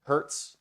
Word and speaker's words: hertz: frequencies are measured in hertz that little HZ pronounced Hertz h-u-r-t-s right um so what